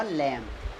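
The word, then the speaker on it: lamb: पढ़ देते हैं जबकि सही प्रोनॉन्सिएशन इसका होगा लंब जैसे बी ओ एम बी देखो गलत पड़ती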